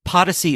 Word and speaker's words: Podyssey: Podyssey is spelt like Odyssey, but with a P.